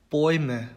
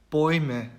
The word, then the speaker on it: Bäume: 이렇게 두 모음이 붙어 있을 경우에는 이제 발음을 오이라고 얘기를 하죠. 그래서 예시를 살펴보면 Deutschland, Deutschland, Bäume, Bäume 이렇게 됩니다.